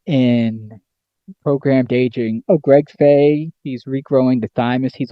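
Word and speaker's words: Fahy: he of uh inner inner his company Greg Fay FHA y FH f a y I'm dyslexic so that's hard to read for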